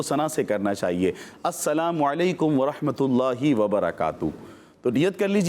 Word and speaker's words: السلام علیکم: سلام کریں گے، اور سلام درست جو انداز ہے، جو درست تلفظ ہے، اسی میں کریں گے۔ السلام علیکم، السلام نہیں، السلام علیکم ورحمۃ اللہ وبرکاتہ۔ جو بندہ السلام علیکم کہے